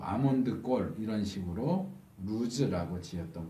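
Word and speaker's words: לוז: 이곳 원래 이름은 루스라고 그랬죠. 히브리 발음으로는 루즈예요. 루즈. 이 루즈는 똑같은 발음을 가진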